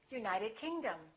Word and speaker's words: United Kingdom: If the place has two words, we stress the second word. For example, South America, we say South America. United Kingdom, we say United Kingdom.